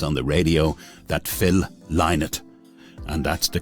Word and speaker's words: Lynott: heard the news on the radio that Phil leinert and that's the correct pronunciation but we all drop into Leonard every so often had passed away of a